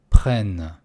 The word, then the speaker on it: prennent: Je prends, tu prends, il, elle, on prend, nous prenons, vous prenez, ils, elles prennent. Конечно, не надо произносить ENT.